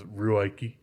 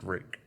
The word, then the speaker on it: Ruike: Also, some people will probably read it as Ruike or Ruike, but it's apparently pronounced Rake.